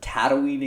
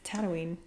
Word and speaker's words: Tatooine: things first i forgot i don't ever want to hear you pronounce it tatooine again it's tatooine tattooing whatever that's that's that's